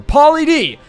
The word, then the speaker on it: Polly D: Apparently, it's Polly, the name, and then with the letter D at the end was 0630. So, Polly D!